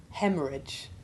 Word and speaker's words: hemorrhage: English and we simply treat the H as being virtually silent. Listen to the following examples. Rhythm, rheostat, rheumatism. Diarrhea, hemorrhage, catarrh.